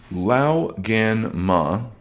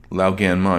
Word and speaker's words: Lao Gan Ma: if you go to Amazon, you are going to look up Lao Gan Ma Spicy Chili Crisp. Let me spell it. Lao, L-A-O, Gan, G-A-N, Ma, M-A. Lao Gan Ma.